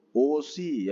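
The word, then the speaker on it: 옷이: Ut sama i berarti bacanya itu osi ya.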